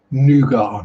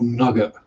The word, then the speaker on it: nougat: Same with nougat, not nugget.